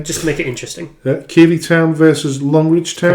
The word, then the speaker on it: Keighley: People often mispronounce it as Keighley or Kaylee because of the spelling, but it's actually pronounced Keighley.